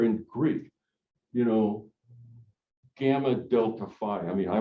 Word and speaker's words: gamma: No, it's a G, hard G, gamma. Gamma. It's gamma. It's gamma. So the sound is just like our hard G.